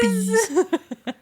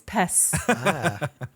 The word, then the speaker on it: Pez: It's my boy Peas. Actually, it's a soft Z. It's Pes.